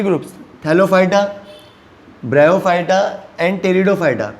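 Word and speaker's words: Pteridophyta: Now crypto games are classified in 3 groups, थैलोफाइटा, ब्रायोफाइटा एंड टेरिडोफाइटा। P silent है, पेटिरोडोफाइटा मत बोलना।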